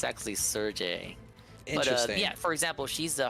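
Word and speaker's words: Cherche: talking about I feel like I've been saying church but it's been wrong this whole time nobody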